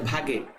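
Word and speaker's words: Waage: কিন্তু তোমাদের বইতেই আছে এটা হচ্ছে ভাগে উচ্চারণটা হচ্ছে ভাগে ঠিক আছে তো এটা মনে রাখবা ভর ক্রিয়ার সূত্র কে কে আবিষ্কার করেন দুইজন বিজ্ঞানী গোল্ডবার ভাগে আগে।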